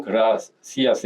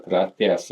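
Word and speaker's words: gracias: 남미 쪽에서는 그라시아스 해가지고 S 발음이고요. 스페인 본토에서는 세타 발음이라고 해서 그라티아스 이런 식으로 발음을 합니다.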